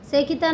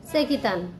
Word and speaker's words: চেকিতান: একসাথে বলছি তো পাঁচ নম্বর শ্লোকে বলছেন আবার উচ্চারণটা বলছি যে ধৃষ্ট কেতু চেতান ধৃষ্ট কেতুষ্ট কেতু দৃষ্ট কেতু চেকিতান সেকিতান মানে চেকিতান আর কাশীরাজ কাশীরাজ বলে একজন রাজা ছিলেন চ